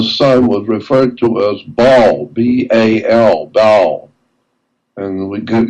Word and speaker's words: Baal: The sun was referred to as Baal, B-A-L, Baal.